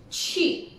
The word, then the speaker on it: 去: And so hati-hati, QU ialah 去, kerana sebutan Q di situ adalah si yang berangin, 去, 去.